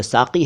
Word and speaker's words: साकी: साकी कहा है सिंगर्स ने, पहले बता चुका हूँ, सही शब्द साकी है।